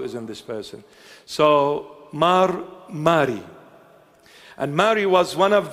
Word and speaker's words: Mar Mari: They spelled my name M-A-R-Y. They made me Mary. I'm going to see Mari Mari Mary Mary. If you hear Mar Mari, Mar is an Aramaic word, Syriac.